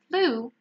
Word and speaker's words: blue: blue and pay attention the word blue has exactly the same pronunciation as the flu the illness okay I got the flu blue it's exactly the same thing drew to do so